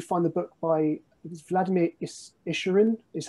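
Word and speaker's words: Issurin: And that's where you find the book by Vladimir Isherin, is how you say his surname.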